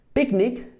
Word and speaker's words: picnic: Birds and sea sick eg in the past picnic no le decimos no le decimos pn sino